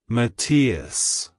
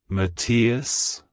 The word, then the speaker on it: Matias: God it's pronounced as matius matius Maus to pronounce it correctly emphasize the first syllable Ma and then quickly transition